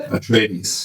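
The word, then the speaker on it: Atreides: How do you pronounce it? At trades. At trades.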